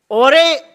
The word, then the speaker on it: Jorge: रहे हैं, इसको टीम ओरे, शायद इसे प्रोनाउंस किया जाता है JORGE, I think in the dialect there it's called ओरे।